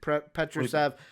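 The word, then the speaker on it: Petrušev: Petrusev, and then Charles Bassey.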